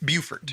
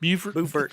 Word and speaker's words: Beaufort: Beaufort. Beaufort. Buford. You pronounce it Beaufort in South Carolina, Beaufort in North Carolina.